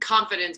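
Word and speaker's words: ConFITdence: It's just confidence, but it's spelled with the fit in it.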